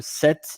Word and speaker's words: sept: Uh, set is a number like seven and s e pt, but we don't pronounce set. Um, the only way that you pronounce set um, you pronounce set like s set.